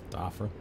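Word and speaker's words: Dhafra: How do you pronounce that air base? Doffer. Okay, Dafra.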